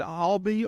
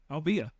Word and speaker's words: Albia: Is it Albee or Albia? Albia. Albia. Yeah, I thought that was right.